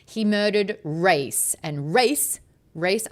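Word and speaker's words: Rayse: Race r a y s e. I'm saying it wrong. Royce rice race like raise your hands kind of thing.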